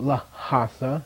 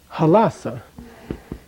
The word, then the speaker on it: Lhasa: It's not Lhasa, it's Halasa. But if you were going to transcribe it, it would be Lhasa. This for purposes of spelling, this for purposes of saying.